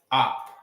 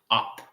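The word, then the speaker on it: אף: Nose is op. Yeah. Not not that op. Not the opposition. Nah. This is op. A h p op. All right. So there's this this word again. All right. With a single letter. So it won't be a it's op. All right.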